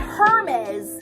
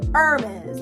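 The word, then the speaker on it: Hermès: even pronounce like baby it's not burberry it's burberry it's not hermes it's hermes like baby so it's like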